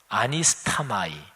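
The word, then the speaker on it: ἀνίσταμαι: 근데 여기에 바로 이 단어, 일어나, 이 단어가 헬라어로 발음하면 아니스타마이, 헬라어 원형으로 제가 발음했는데요.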